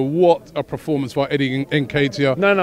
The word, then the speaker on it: Nketiah: Eddie Nketiah. All right? That's the pronunciation, right?